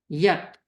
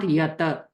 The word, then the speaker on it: yat: So we'll cut the pronunciation right there. Mahatman, yat, not yata.